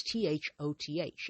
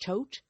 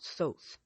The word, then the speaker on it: Thoth: Uh you'll see that represented written out as t h o t h. It's pronounced Thoth or Thoth but not Thoths.